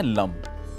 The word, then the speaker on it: लं: एक अक्षर है ला। ला अक्षर के ऊपर अंक की बिंदी लगाएं तो बनता है लम। इसका उच्चारण है लम।